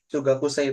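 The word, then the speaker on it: 中学生: Anak SMP, Chugakusei itu. Chugakusei, anak SMP, junior high school. Hmm. Hmm, Chu, ini kan kanji naka nih, tadi benar naka. Naka bacanya bisa juga untuk cu, gitu cara bacanya cu.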